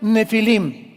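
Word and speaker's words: Nephilim: Esas palabras, si tienes tu Biblia dice gigantes, ponle nepilim con ph. Nepilim se pronuncia nefilim y significa caídos.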